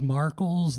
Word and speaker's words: Marles: everybody hey everybody yeah my name is marles that rhymes with sparkles and um I'm going